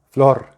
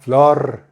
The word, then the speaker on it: Flor: Flor. Y los jefes americanos dicen Flor, Flor. No, Flor. Y los otros no pueden pronunciar la R porque no están acostumbrados.